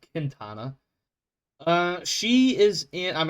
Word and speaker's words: Quintana: Uh, it is spelled Quintana, but because she is of Hispanic descent, I'm going to go with it's Quintana.